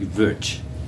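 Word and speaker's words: Łódź: It's from the Lotz Ghetto, which they pronounce like Vuch. I've heard it pronounced that way.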